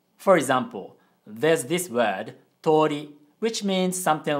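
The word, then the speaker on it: とおり: we pronounce the word is pronounced as tori with a long o sound but in japanese o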